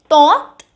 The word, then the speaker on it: tante: Then eighth, tante. The N has been silent, which means the aunt.